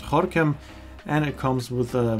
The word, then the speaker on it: Gorinchem: It's written Goran, but it's pronounced Horam.